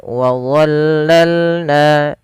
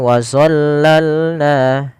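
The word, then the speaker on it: وَظَلَّلْنَا: Hati-hati teman-teman di lam melafalkan huruf d jangan sampai kita membacanya dengan do. Jangan dibaca dengan wazollalna. Karena di sini ini bukan huruf doo, maaf bukan huruf d tapi dia huruf d.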